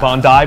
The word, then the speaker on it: Bondi: Bondi Burger? Oh, is that how you pronounce it?